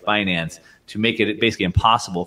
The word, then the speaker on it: Binance: Binance, the world's largest, is that the way you pronounce it? Binance? Yep. Binance, the world's largest cryptocurrency exchange, said it would